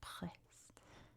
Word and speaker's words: Brest: So we'll stick with the French pronunciation with that weird French R, Brest. Sounds like you're choking a little bit on the R sound.